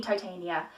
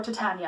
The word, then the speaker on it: Titania: really waiting first me titania she or titania I've heard pronounced both ways she tends to be